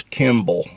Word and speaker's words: Kimball: friend in Florida, Chris Kimball. Kimball. Every time I say that and it goes to text, they call his last name Campbell. It's Kimball. I guess I don't pronounce my words real well.